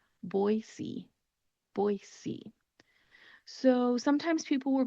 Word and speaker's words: Boise: So think of the two words boy and see and just put them together. Boise, Boise.